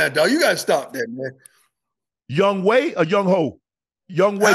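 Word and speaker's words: Younghoe: is his name that's the way that it's pronounced young way but it's fail because no she put it on there young way but if you go look at g o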